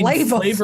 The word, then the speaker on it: Flavor Flav: I'm like, no, motherfucker, his name's you mean Flava flavor Flav. flavor? Yeah, right. It's just pronounced flavor, so it's actually not flav at all.